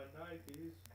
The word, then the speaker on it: Nike: Not my Nikes. Actually, it should be pronounced Nike, Whatever. as in Greek god of victory.